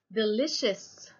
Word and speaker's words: delicious: انتبهوا على لفظ كلمة delicious وكتابتها. السي هون لفظناها إش, مش دائما هيك بصير معنا, في بس في بعض الكلمات القليلة نلفظ السي إش.